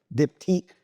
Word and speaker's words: Diptyque: Is it Dip-T? Dip-tique.